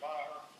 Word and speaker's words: Maher: I can't quite M-A-H-E-R. I pronounce that in my ears, but how do you pronounce it?